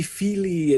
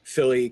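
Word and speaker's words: Fíli: So, then you listen to him talking about the dwarf names, and whereas everybody's being all like it should be Feely and Keely, he's like Philly, Killy.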